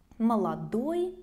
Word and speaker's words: молодой: Молодой becomes молод. Молод. Also notice that the stress will change. Молодой, of course, in the end, and молод on the first syllable.